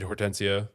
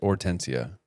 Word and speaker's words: Hortensia: Uh, I think you just pronounce it Ortensia. Oria. No, no, I think it's just Ortensia. Okay. The H is silent.